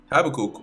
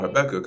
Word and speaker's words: Habakkuk: Habakkuk or Habacuc, however you want to pronounce it, he, when you read in I